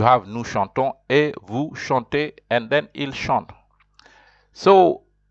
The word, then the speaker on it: chante: Whether there's an E or an ES, you just say chante. You pronounce the T because there's an E. And then you have nous chantons et vous chantez, and then il chante.